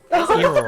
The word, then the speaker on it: Eero: Eero. The O and the O switched. Yeah, and then I was thinking it was like Eero, and I'm like, oh, Arrow.